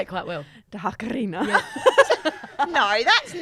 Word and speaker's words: Takarina: Tuck Arena, is that how you say it? No, you got to roll the R. You say it quite well. Dakarina.